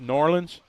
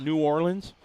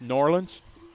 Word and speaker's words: New Orleans: been to norleans and that's pronounced norleans not New Orleans it's pronounced Norland right I think that's how it said Norland Norland right Norland so